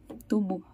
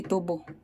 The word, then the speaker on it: tubo: Meron pa silang natirang tubo. Ay, hindi tubo. Tubo. Kasi mali yung pagka-pronounce ko.